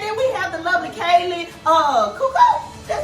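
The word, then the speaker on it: Kaley Cuoco: Okay, and then we have the lovely Kaylee Cuoco.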